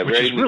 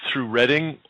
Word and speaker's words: Reading: I think I passed through Reading. That's how you pronounce it. Is that right? Yeah, it's Reading, Pennsylvania.